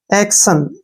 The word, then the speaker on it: action: और TIO का उच्चारण हम श के रूप में करते हैं, ठीक है ना। और एन से ने। एक्शन क्या बन गया, एक्शन।